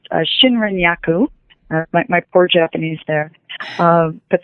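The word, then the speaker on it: Shinrin-yoku: So it's a Japanese practice that is pronounced Shinrin-yaku.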